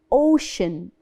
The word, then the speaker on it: ocean: the sea which is ocean ocean so the sea here the letter C in the word ocean is said as ocean ocean ocean which is the same